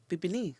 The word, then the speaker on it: Bibinee: So we said, well, instead of calling it Obroniba, because it's not an Obroniba, Bibinee.